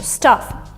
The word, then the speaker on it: stuff: Stuff is different. Stuff is, both in British, both in American, is very, very short. So stuff.